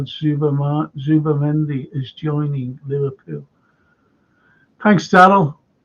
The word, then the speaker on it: Zubimendi: You don't pronounce the Z like Z.